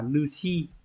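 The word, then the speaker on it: 主: Trong trường này sẽ được đọc là Nushi.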